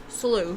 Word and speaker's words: sluice: come into my commentary our commentary SL is pronounced SLO SLO okay it's a sliding gate to other